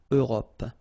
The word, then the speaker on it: Europe: Remember this final it's not really present. It only gives you the possibility to pronounce this P, PP at the end, okay? Europe.